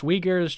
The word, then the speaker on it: Uyghurs: Neoni says they're pronounced Uyghurs, Chinese Muslim, and Western China.